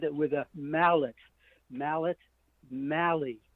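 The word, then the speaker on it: Mahle: It's not me, it's not Molly, it's Mali.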